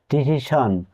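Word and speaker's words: division: এর আগে vowel letter থাকে তখন এস এর উচ্চারণ হয় সন যেমন ডিভিশন এখানে এস এর আগে ভাওয়েল লেটার আছে টেলিভিশন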